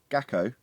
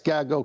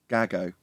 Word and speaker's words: Gago: Gacko. Am I on the right thing? I assume it's about a sextant, so it can't not be. Yeah, it's Gago Coutinho. Gago.